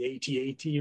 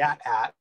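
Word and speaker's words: AT-AT: know apparently there was for some time debate over whether it's the atat or the at hat and lucasfilm made a statement that it is pronounced the way that it's read in a book so it is officially at and uh yeah i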